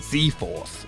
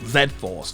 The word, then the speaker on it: Z-Force: you to know that it goes against every fiber of my being to say z force and not zed force throughout this video it